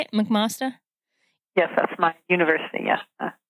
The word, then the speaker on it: McMaster: McMaster?